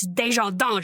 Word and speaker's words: Desjardins: Which it's spelt like, you know, not how that is said, but I always thought it was Desjardins, and I like pronounced it wrong once, and somebody corrected me, so I had a big like uh-oh moment. But so it's Desjardins.